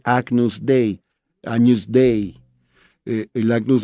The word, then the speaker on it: Agnus Dei: el pecado del mundo la expresión latina la pronuncia como se escribe agnus dei a newsday en la